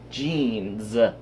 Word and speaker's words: jeans: I'm getting changed into jeans. Not with a Z. Jeans. Jeans. Jeans. Oh, I hate the English. Like, we pronounce it like a Z.